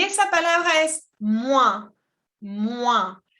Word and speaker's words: moins: Y esa palabra es moins. Moins. La O-I-N se pronuncia ouin. Ouin. Moins. ¿Ok? Y la S no se pronuncia.